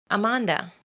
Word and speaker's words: Amanda: husband's beautiful accent and the Spanish pronunciation of pronouncing the letters all exactly the same not our weird English language where we pronounce letters at whatever random will we desire it's pronounced Amanda which I actually like